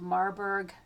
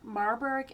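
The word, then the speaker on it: Marburg: Usually in the hospital there is an a guideline called Marberg heart score. Marberg is spelled M A R B U R G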